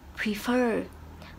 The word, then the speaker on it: prefer: Nhưng mà từ này trong âm động từ prefer, trong âm ở chữ fer cơ. Vậy chị sẽ đọc là prefer.